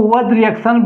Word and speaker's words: Wurtz: उर्ज रिएक्शन उर्ज रिएक्शन कोई कोई व रिएक्शन भी इसका प्रोनाउंस होता है लोग करता भी है व रिएक्शन हम उर्ज पढ़ेंगे उर्ज रिएक्शन उर्ज वाज